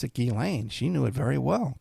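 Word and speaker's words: Ghislaine: Everyone pronounced it gishlane because of the spelling. But she knew how to pronounce it Gilane.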